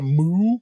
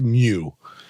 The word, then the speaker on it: Mu: A feudal world is a Mu world? M-U. It's like everything. It's probably pronounced Mew. A Mew, maybe.